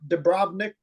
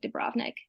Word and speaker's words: Dubrovnik: you pronounced a city do you put the emphasis on the second syllable no on the first cell do Bob Nick or say is is that Dubrovnik is what we typically